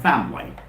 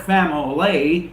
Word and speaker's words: family: it's not family well the word family is not divided into three syllables it does not have three syllables it has only two syllables the first syllable and